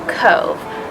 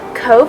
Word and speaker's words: Cobh: crazy thank you okay Travelers welcome to Cove Cove Ireland so let me tell you guys a